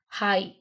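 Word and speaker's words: high: silent है इट्स के हाई हाई हाई में कौन सा वर्ड साइलेंट है जी एच राइट तो यहां पर ये वर्ड्स साइलेंट है एच आई हाई वॉक तो वॉक वॉलक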